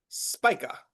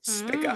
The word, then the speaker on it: Spica: The next star, a very cheerful one, very, very optimistic and benefic star, Spica, or Spica, as some Mm. people pronounce it.